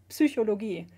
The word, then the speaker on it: Psychologie: So psychology, for instance, in German is Psychologie. So you do pronounce the P in German, and then in English you don't.